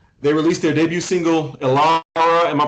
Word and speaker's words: Elara: They released their debut single, Elara, am I pronouncing that right? Yes, sir. Elara in August, and followed it with the single Old Soul in October.